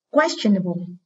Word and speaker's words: questionable: Và các em có thể đọc luôn từ này là âm 3 âm tiết và âm thứ 2 có ơ, nên trọng âm giảm âm số 1.